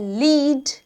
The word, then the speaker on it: lead: नाउ अब इसकी भी दो प्रोनाउंसिएशन है, एक है लीड, ठीक है। इसका ये क्या है? ये लीड नहीं है एक्चुअली, इट्स नॉट लीड।